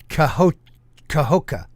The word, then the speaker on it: Cahokia: So, has anybody here heard of, and it's pronounced Cahokia in Illinois?